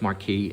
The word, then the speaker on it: Marquis: I call it Marquis, but I think it's Marcus actually, the way you pronounce it.